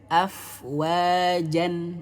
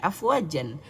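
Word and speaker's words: أفواجا: Contohnya di Quran surah An-Nasr ayat 2 di sini. Afwaja, 2 harokat. Tapi tak perlu disukunkan. Afwajan, nggak perlu. Ya, meskipun ini bacanya afwajan, tapi karena waqaf, karena akhir ayat, maka dibaca afwaja, 2 harokat.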